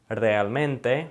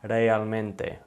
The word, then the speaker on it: realmente: So if we wanna say realmente, notice it's not realmente. It's not one sound that we're using with the R. It's kind of rolled, realmente.